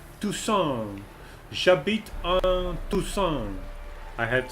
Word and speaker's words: Toussaint: So that was about that, and I guess we will have to get into the fight and get to Toussaint, to pronounce it correctly in French. Toussaint.